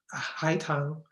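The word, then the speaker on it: 海棠: um a kind of Magnolia um which is pronounced Ulan in Chinese on the right is a crab apple um High Tong and then on the left is a Pian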